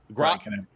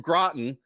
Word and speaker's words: Groton: Groton. There were only two possible ways it could have been pronounced, and I fucking got it wrong. God, from Groton, is 8-2 overall.